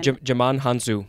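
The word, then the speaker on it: Djimon Hounsou: Jaman Hansu. Thank you. He's also a co-star. Great actor. I'm just not very good at pronouncing things.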